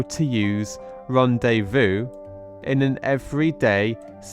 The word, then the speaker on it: rendezvous: sentence but firstly let's try our best to pronounce Ronde Vu Ron day V Vu excellent and let's try again Ron day Vu fantastic so let's take a look at how